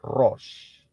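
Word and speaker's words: ראש: Itu bunyinya, ya, pronunciation-nya atau pengucapannya adalah Rosh.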